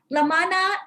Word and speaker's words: La Mana: l m and n in filipino we pronounce that as la ma na straightforward easy and and